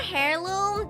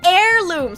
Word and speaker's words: heirloom: Is it not hairirloom? Wait, I always thought it was hairirloom. Wait, wait, wait, wait, wait. Let me Google this. Hairirloom. Oh, it's heirloom.